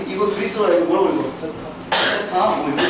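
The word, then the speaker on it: theta: 세타? 이거 줄 알아? 이거 앞으로 보면 별뱅이나 읽으면 안 돼. 번데기 별뱅이나 읽으면 안 돼. 이거 세타라고 읽어, 세타.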